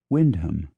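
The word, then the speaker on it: Wymondham: y m o n d h m is Windham f l a w t h is Floy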